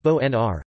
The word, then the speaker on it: Bonaire: Bonaire, pronounced or Dutch Bonaire, pronounced Bo-N-R, Papiamento, Boniru, pronounced Bu-Niru, is an island in the leeward Antilles in the Caribbean Sea.